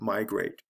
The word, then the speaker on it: migrate: two-syllable words do this a special case would be the word migrate did you hear this stress here the stress is on the first syllable with migrate so it has to